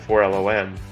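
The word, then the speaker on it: 4-LOM: No, it's 4LOM, and the reason why is you say things phonetically, like C3PO, so that people know how it's spelled.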